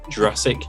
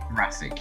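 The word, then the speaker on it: Jurasik: india fisher and peter jurassic so you say his name jurassic jurassic yeah like jurassic park this was directed by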